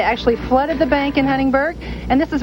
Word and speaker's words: Huntingburg: in the night and that was Huntingburg not Huntingburg but Huntingburg at the end of